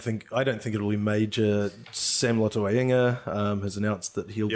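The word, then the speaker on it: Lotu-Iiga: Or Sam Lotuliga, as everyone insists on calling him, wrongly. That's a pretty incorrect way of. It is incorrect, but it's pronouncing. It's because the capital I after the hyphen is why they get it wrong.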